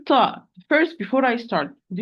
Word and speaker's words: ت: It is the tip of the tongue, tip of the tongue with the root of the upper, central, incisor.